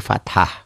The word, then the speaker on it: fathah: tadi dhomah ini domah ini fathah Fatah ya bukan patah hati ya fathah Fatah fathah tulisannya